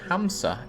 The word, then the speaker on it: Hansa: Hansa is actually pronounced more like Hamsa in ancient Nordic language.